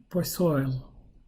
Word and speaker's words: Poiseuille: And I looked up and says, it's kind of like over here is like oil. This one pronounced like O-I-L. It's pronounced like that in this part. So Poiseuille, something like that.